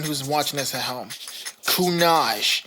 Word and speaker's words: Kunage: And for anyone who's watching this at home, Kunage, it's like Minaj, but spelled differently.